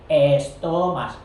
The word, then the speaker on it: estomas: Los estomas, que en castellano pues arreamos la E delante, para no quedarse ahí con la S, que el que quiere la pronuncia, no, estomas, y así la pronuncian necesariamente.